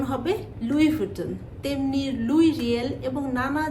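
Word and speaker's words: Louis Vuitton: এটার ফাউন্ডারের নাম হচ্ছে লুই ফুটন সো সঠিক উচ্চারণ হবে লুই ফুটন তেমনির লুই রিয়েল এবং নানা জায়গায় লুই পাস্তুর এরকম তো এই বানানটা যেখানেই আপনি দেখবেন সেখানেই উচ্চারণটা লুইস নয় উচ্চারণটা হবে লুই এবার যে ব্র্যান্ড নিয়ে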